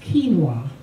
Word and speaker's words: quinoa: are also quinoa it started for Cuba is pronounced quinoa this grain offers significant protein and is known